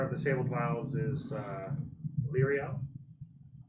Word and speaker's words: Lyriel: course, the owner of the Sabled Vials is Lyriel. Lyriel? Lyriel. L'Oreal? It's Lyria. It's Lyria. Lyriel. L-I, not L-E-O.